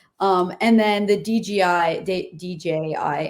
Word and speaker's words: DJI: and then the DJI DJI in my head I always say it like DGI DJI they should just change their name DJI DGI microphone's so